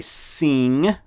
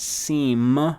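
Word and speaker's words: sim: the answer is yes say sing remember that ng sound at the end of bang sing means yes and it's not seem with an m it's a ng sound truly so you say sing so if i asked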